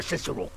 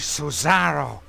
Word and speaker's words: Cesaro: Senior Cicero. The name is Cesaro. Senor Cesaro.